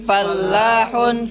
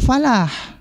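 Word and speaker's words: فَلَّاح: perlu diperhatikan disini bahwa lamnya ada tasydidnya sehingga kita tekan kan cara bacanya file lah bukan Falah karena Falah nanti maknanya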